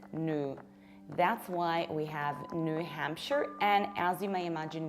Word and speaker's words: New Hampshire: It's not New Hampshire. We pronounce it like New Hampshire. Why? The first rule is that in American accent, we don't pronounce things like new, or rather not that often.